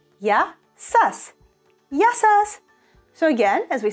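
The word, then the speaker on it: γεια σας: The third way, if you want to approach someone in a more professional manner and more formal, you will say yasas, yasas, yasas.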